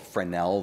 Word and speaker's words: Fresnel: well there's something called fresnel the S is silent it's French it's a little stick